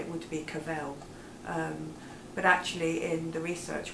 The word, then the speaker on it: Cavell: it would to be Cavell but actually in the research we found that her family wanted her name to rhyme with travel and not hell so that's why it